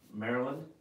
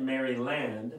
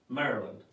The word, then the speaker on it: Maryland: Maryland hello for Maryland it's actually Maryland yeah but did you say that or did she say it she said I said I said marry land we pronounce it Maryland I thought she said